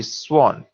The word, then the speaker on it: swan: we say sword however in swan the w is pronounced so it will be swan also it is not